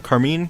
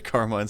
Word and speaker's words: Carmine: shot down by Carmela carine but while all that's happening why did you say carine it they pronounced it Carmine several times on the show Charlie puts vaggie in